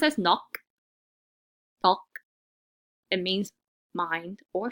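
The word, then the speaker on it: 넋: And the first word is pronounced as nok.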